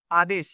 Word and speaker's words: Aadesh: You and it's Aadesh, right? I'm saying it correctly? Aadesh, yeah.